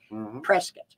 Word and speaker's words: Prescott: But it is pronounced by the family who decided to go with the colonists and against England, Prescott. So it's patriotic to call our town Prescott.